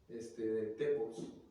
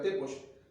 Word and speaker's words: Tepos: Entonces mi apellido es así, Tepos, que se debe pronunciar Tepoch, pero la palabra es